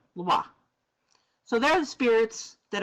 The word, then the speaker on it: Lwa: And it is pronounced Loa, Loa, Loa. Sometimes in Haiti, they really swallow that, like we kind of say Loa.